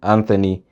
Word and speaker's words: Anthony: Number 6 aka ce note also that in some names like Thames, Thomas and Anthony, th is pronounced as t.